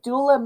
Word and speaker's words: doula: Okay, so doula means, in Greek, it's actually pronounced doula.